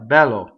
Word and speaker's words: bello: So um there are two L's balo. So you have to you have to right you have to phone on the L. B one L bellow bellow two L's.